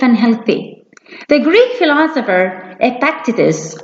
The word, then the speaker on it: Epictetus: healthy the Greek philosopher Epictetus or as some odds pronounce it as expect eases one stated that it's